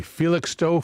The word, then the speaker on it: Felixstowe: Felixstowe. Felixstowe. Huh. Felixstowe. Bee, ticks, and show.